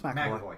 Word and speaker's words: McAvoy: I'm getting the name wrong. No, it's McAvoy.